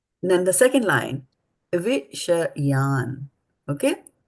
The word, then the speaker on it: viṣayān: So they have to be pronounced differently. Viṣayān will is something different. This is viṣayān. So you have to not Viṣayān. you don't have to say, Viṣayān. you don't have to say the A.